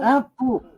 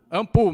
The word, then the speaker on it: ANPUH: A PU, eu não sei se é assim que se pronuncia, ANPUH. É isso mesmo, Virgínia? Como? AMPU. AMPU mesmo.